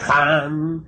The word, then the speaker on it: Ham: Ham escribe con las letras H-A-M. Saj se escribe con las letras S-A-H. La H suena siempre como J.